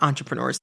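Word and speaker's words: intrapreneur: themselves as entrepreneurs even if they technically aren't entrepreneurs.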